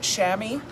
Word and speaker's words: chamois: with a set coat chamois or a shamwock depending on whether you're using the french or believe it or not the australian pronunciation i actually looked it up